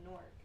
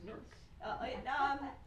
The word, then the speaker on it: Newark: It's bringing up the pronunciation and then another internal debate. I live in Newark, and when people that don't have roots in